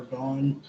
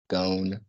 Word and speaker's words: Gon: as I want to gone how do you pronounce the character's name from Hunter Hunter the main character okay that's what I thought like his dad gone like me wow imagine people